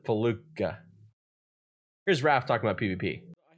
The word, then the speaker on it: Felucia: I'm gonna let Raph say it because apparently I, for like the last 25 years, have been saying it wrong because I've been saying Felucia, instead of Faluka.